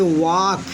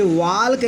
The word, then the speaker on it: walk: Silent रहेगा, इसे पढ़ेंगे वाक, WALK वाक। कुछ बच्चे भूलकर जो नहीं समझ पाते वो इसे वाल्क कह देते हैं। इट इज़ नो वाल्क, इट इज़ वाक।